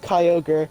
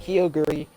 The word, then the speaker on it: Kyogre: also have cool kyogre it's pronounced kyogre not kyogri not whatever whatever or